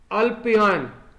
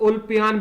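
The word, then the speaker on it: Ulpian: उनका नाम था अल्पियान, या उल्पियान भी कह सकते हैं, जैसा भी प्रोनाउंसिएशन आपका हो, आप जैसे इसको समझें।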